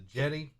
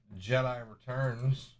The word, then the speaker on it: Jedi: It's not Jedi, it's Jedi. This is the Jedi. I mean, it's pronounced Jeddah, so it should be pronounced Jedi. If you think about it. I don't know. Oh. I like saying Jedi. No, Jedi's fun. Sounds like Yeti.